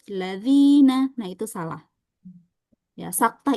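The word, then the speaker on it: ٱلَّذِينَ: Misalnya kita berhenti pada huruf lam aladina. Nah, itu enggak boleh ya. Jadi jangan ada jeda walaupun sedikit walaupun sebentar. Al jeda dulu terus ladzina.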